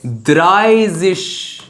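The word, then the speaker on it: dreißig: देखिए 30 को बोलते हैं 30 को बोलते हैं द्राइजिश।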